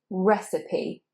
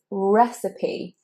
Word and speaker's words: recipe: an S, but secondly, that final E is pronounced, which is quite rare in English.